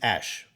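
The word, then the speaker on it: Aesc: hat to castoria yeah it's spelled a c but that just means Ash like Ashwood if you uh if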